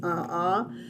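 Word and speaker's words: aʻā: hoi or ah uh which is spelled a a but it's a ah in hawaiian but it would have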